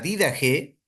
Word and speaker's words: Didaje: La primera obra que vamos a analizar es esta, la Dida G. Hay diferentes formas de pronunciar, pero vamos a pronunciar para este curso la didag, es decir, la enseñanza de los 12 apóstoles.